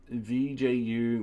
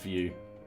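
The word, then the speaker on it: Vue: all right cool um vju my favorite framework at least before knowing it I don't know that one oops oh wait you sorry it's just view right um view pronounce vju like view okay y all right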